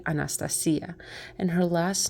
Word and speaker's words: Anastasia: And now I know exactly how to pronounce her according to the Romanian pronunciation, and that would be Anastasia.